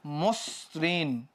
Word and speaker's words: মসৃণ: তো মর পরে ও হয়ে যাওয়ার পরে এটার উচ্চারণটা কেমন দাঁড়াইলো, এটা উচ্চারণ দাঁড়াইলো হচ্ছে মসৃণ। কেমন দাঁড়াইলো, মসৃণ, ওকে।